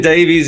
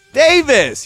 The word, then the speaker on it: Davis: Davis. You're like Jonathan Davies. I'll get fucked. That's how we say it here. Jonathan Davis or Davies. That's what we say, Jonathan Davis.